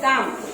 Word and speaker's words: calm: Number 5 काम, तो उसमें CALM स्पेलिंग क्या है काम, L नहीं है, L साइलेंट है, तो L के नीचे अंडरलाइन करेंगे।